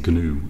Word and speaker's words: GNU: The G is actually pronounced in GNU, I believe.